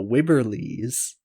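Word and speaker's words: Wibberley: pig would be my guess nope it's the wibber lee's like of waverly place the w-i-b-b-e-r-l-e-y-s the wibber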